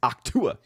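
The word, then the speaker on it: Ahch-To: And you mispronounce it. It's Octua. Octua.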